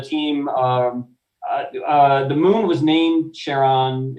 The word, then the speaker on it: Charon: through the years, now I just automatically say Sharon.